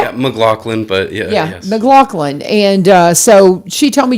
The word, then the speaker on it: McLaughlin: McLaughlin.